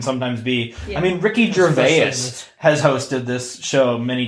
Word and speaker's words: Gervais: pronounce that name what how do you say Ricky's your vase your face Gervais yeah okay Ricky Jarvis he knows